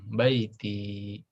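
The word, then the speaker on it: بيتي: Kalau bacanya mirip ya, fil baiti. Tapi kalau baiti rumah saya itu pakai iya panjang, baiti.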